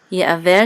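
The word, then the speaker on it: יְעַוֵּר: Ye'aver says it has a pashta, so the last syllable is accented.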